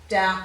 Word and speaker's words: doubt: and the c sound det doubt subtle and succumb all have a sign of b in them and in depth out of the subtle you can see it's followed by the t so we're sounding the t not the b um and in yacht